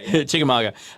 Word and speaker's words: Chickamauga: So talk about the Battle of Chickamauga. Am I pronouncing that right? Chickamauga.